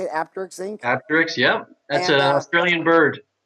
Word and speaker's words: Apteryx: Apteryx, yeah.